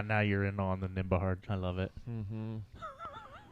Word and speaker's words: Nembhard: Yeah, now you're in on the Nembhard. I love it. Mm-hmm. No silent B anymore, boys. We will not be silent. Nembhard, yep.